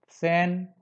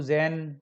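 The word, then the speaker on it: zehn: ध्यान नहीं दे पाते, तो उनका प्रोनाउंसिएशन पे कुछ इस तरह से होता है, ज्वाई, जू, जैन, ज्वल्फ, बट इट्स रॉन्ग।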